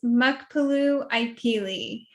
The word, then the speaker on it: Muckpaloo Ipee: goodness please help me okay my name is mukpalu ikeli thank you see and i totally got and